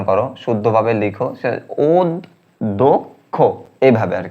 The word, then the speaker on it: অধ্যক্ষ: উচ্চারণ এটা থাকে যেমন অধ্যক্ষ অধ্যক্ষ এটাকে শুদ্ধ উচ্চারণ করো শুদ্ধভাবে লিখো অদক্ষ এভাবে আর কি হ্যা শুদ্ধ উচ্চারণগুলো তোমরা সাজেশন বা নোট বই নোট বইগুলো থেকে দেখে নিবা অনেকগুলো।